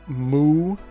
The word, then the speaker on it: Mu: the maps of the so-called mythical continents of Moo, that's spelled Mu, and Pan, spelled P an AN,